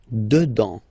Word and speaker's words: dedans: Final S not pronounced. Dedans.